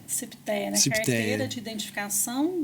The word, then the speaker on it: CIPTEA: Como que é a pronúncia? A CIPTEA. CIPTEA, né?